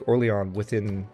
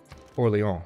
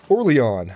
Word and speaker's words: Orléans: I might be able to take Orléans within this episode. Let's see if we can. Orléans, rather. That was a very American pronunciation on my part. Orléans!